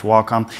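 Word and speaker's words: Wacom: with a wcom or by the way it is pronounced wcom with a wcom or a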